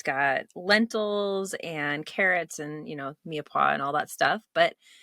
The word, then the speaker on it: mirepoix: It's got lots of mushrooms in it, and it's got lentils and carrots and, mirepoix and all that stuff, but it's just delicious.